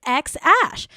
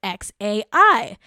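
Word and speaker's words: X Æ: differ in their pronunciation musk said last week on the Joe Rogan experience podcast that the first part of the name is pronounced ex ash while Grimes said in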